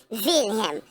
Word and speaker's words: Wilhelm: You know the W is actually a double V. Wilhelm. That's why in those times, those W's, thing that so-called started with W, was actually pronounced with a V vernacular.